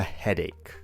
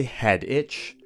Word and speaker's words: headache: say, I have a headache. Be very careful to pronounce this word correctly. We don't say head itch, we don't say head atch, we say head ache.